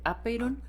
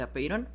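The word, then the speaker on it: ἄπειρον: hay como un debate hay quien le pone el acento en la a de apiron y hay quien se lo pone al final de apiron creo que ahorita lo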